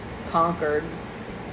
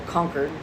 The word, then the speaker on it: Concord: Harmony Tranquility uh calm Amity conquered or conquered I guess it would be pronounced I lived in a